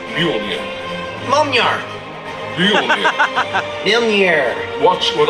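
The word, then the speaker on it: Mjölnir: When Cap says go, hit his shield with Mjolnir. It's pronounced Mjolnir.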